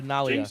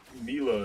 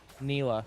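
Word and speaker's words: Nilah: Uh Nalia. Thank you. Nila. Nalia. Nila. Nila. Yep. Nila.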